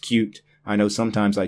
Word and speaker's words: Qt: First of all, Qt, Qt, the Qt toolkit, is pronounced like the word cute. That is how the creators intended it to be pronounced, cute.